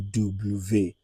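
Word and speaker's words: double vé: According to French, it is believed that it is two V joined together to make W. So, V is pronounced as V. Then W is going to be double V.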